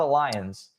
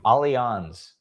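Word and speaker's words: Allianz: Yes, that's how you pronounce it. It's not a lions as I thought it was. Same. Alons.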